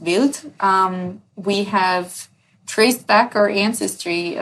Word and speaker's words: Wild: And yeah, fun fact, it is it is in in German it's it's pronounced built.